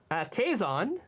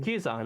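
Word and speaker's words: Quezon: Philippine first lady Aura caison did I pronounce that right I I usually heard it pronounce Q's on kuson okay uh first lady Aurora cuson uh 61 is assassinated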